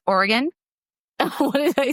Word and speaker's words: Oregon: A burglar in Oregon broke in, apologized, and Venmo'd the homeowners $200 before leaving. Real or Reddit? First of all, teacher Amanda, I believe it is pronounced Oregon.